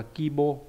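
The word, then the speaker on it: 規模: Nhưng mà trong cái chữ quy mô nó đọc là kibo.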